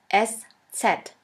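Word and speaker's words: Eszett: alphabet which looks like this we call it s set s set or sha s sha s which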